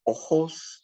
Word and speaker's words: ojos: The word for eyes is ojos. The J is pronounced like an H.